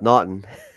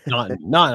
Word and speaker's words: Naughton: Close. Yep. Naughton. Not. I want to say not.